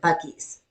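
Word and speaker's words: Buc-ee's: I thought the same thing, except I went on and watched a video of the guy who owns it, and he pronounced it Buccees.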